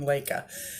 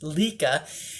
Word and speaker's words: LECA: of response on how to grow plants in lekha so um the first thing I want to tell you is I have been pronouncing that word incorrectly in my videos I have been pronouncing it Lika and it's actually lekha it's pronounced alayka so